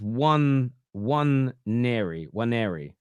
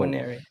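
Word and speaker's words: Nwaneri: The N is silent, right?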